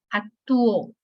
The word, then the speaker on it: actuó: la O es fuerte, pero actuó, me está pidiendo, escúchenlo. Actuó. No puedo decir que la sílaba tónica está en la A porque nos dice actuó. Me está diciendo que está en la U, porque si fuera la sílaba en la O, que dijeran actuó, pues ya está en pasado, pero dice actuó, lo está separando.